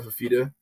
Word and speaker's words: Fifita: Noah Fifita.